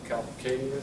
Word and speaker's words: calcaneus: Again, heel is 1 syllable. Calcaneus is 3 syllables. So it's called calcaneus. Or calcaneal, that sounds even better.